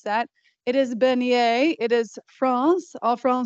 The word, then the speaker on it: beignet: at the recipes and you wondered how to pronounce that it is bener it is France Al FR say and if